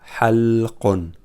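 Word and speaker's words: حَلْقٌ: But this one is without haraka. So it will be like his brother, b. So it will be l. So we pronounce it. We spell it. Halqa. Halqun.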